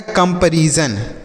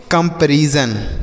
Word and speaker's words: comparison: SON को सन नहीं पढ़ेंगे, जन।